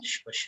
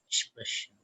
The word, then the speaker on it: sprechen: How do I pronounce this one? Any guesses? Sprechen. Russian. Russian. Sprechen. Sprechen. Correct. See, Sprechen. Sprechen.